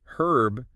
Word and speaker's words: herb: to say it well in American English herb without the H is definitely more common yeah that's how I say but in British English herb is the preferred pronunciation oh interesting so it's